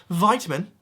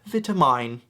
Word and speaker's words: vitamin: Well, Americans pronounce it vitamin. Barbarians. The correct way to pronounce that is vitamine.